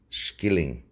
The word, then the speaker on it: shilling: It was to be based on the old Irish shilling, which is pronounced skilling, and it was to